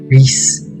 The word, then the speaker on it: Rhys: Reese. It's just like a name. Reese is just a name that people have.